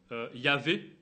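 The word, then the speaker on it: Yahvé: vu tout à l'heure dans le nom Yav on le prononce comme ça mais il est imprononçable le tetragramme on voit que dans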